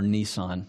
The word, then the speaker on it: Nisan: And that month in their calendar is the month of Nisan, or Nisan, we Americans say.